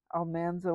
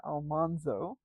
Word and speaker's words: Almanzo: Dean Butler, who played Almanso Wilder. Yes, Almanso is the uh, proper pronunciation of Laura Engles Wilder's husband's name. Um, they discovered this after having made the first episode where they called him Almanzo.